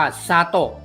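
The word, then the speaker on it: 砂糖: นะ ครับ ต่อ ไป ตัว นี้ อ่าน ว่า ซา โตะ ซา โต้ สา โต้ ซา โต้ มิ มี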